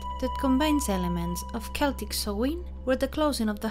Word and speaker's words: Samhain: Samhain, pronounced in Irish Samhain, was a festival celebrated by the people of